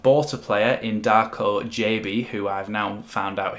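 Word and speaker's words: Gyabi: that we have bought a player in darko jb who i've now found out his name is pronounced jb through watching the um uh legionated official first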